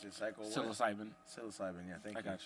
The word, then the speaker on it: psilocybin: I don't know how to pronounce it. Cycle. Psilocybin. Psilocybin.